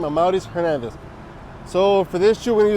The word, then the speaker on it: Amauris Hernandez: If you're new, that's how you say my name, Amauris Hernandez.